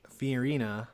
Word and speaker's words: Fiorina: He picked Carly Fiorina. Hey, you said it right. That's I did. Yeah, I did say Good it right job. there. I've been pronouncing her name wrong. Yeah, for Fiona.